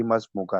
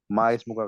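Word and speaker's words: ما اسمك: तो जो माँ इसमु का जो सही प्रोनाउंसिएशन है उसकी मस्मु का है, माँ इसमु का गलत हो जाएगा, मस्मु का, ठीक है।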